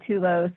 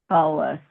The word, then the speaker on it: Tullus: So it's a lot of people at the Tullus throws them off. They want to say Tulos or Tuyos. It's Tullus.